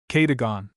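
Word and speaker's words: Cadogan: It may or may not be necessary to mention that my cook's name is locally pronounced. Katagon.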